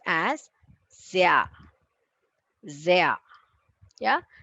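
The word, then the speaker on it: sehr: it's pronounced as saya zaya yeah za that sound of the zebra zaya zaya means very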